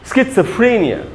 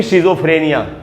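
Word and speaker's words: schizophrenia: इसको हम पढ़ेंगे स्किट्सफ्रेनिया। स्किट्सफ्रेनिया, आपको मेरे साथ थोड़ी प्रैक्टिस करनी चाहिए। स्किट्सफ्रेनिया, न कि शिज़ोफ्रेनिया, स्किट्सफ्रेनिया, स्किट्सफ्रेनिया।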